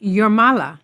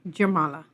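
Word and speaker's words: Jūrmala: Notice that the J's in Latvian is usually pronounced like a Y. That's why one of the cities down the coastline from Riga is pronounced Jurmala, not Jurmala.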